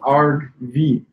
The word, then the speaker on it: argv: It's pronounced argv, V-E-E, argv, like a pirate, and V-E-E, right?